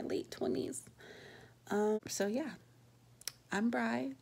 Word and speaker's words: Bri: just gonna go by Bri. It's like Fry, but with a B.